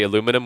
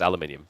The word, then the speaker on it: aluminium: over the fact that Americans say aluminum which is incorrect it's aluminium everywhere else English speaking agrees there are more countries